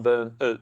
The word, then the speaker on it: Byrne: I pronounced it wrong. Byrne, sorry.